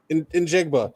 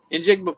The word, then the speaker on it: Njigba: Njigba. That's it. Njigba, please.